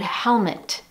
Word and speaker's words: helmet: For example, in the word helmet, you don't see the schwa written. However, you do hear it. Listen again. Helmet, helmet. That second E has an sound.